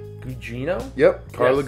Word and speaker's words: Gugino: But you also have, pronounce me right, Gugino? Yep, Carla Yes, Gugino.